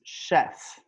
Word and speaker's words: chef: like French words so if they're French words so they have like an origin from France it's usually pronounced Shh so this is pronounced chef okay chef there are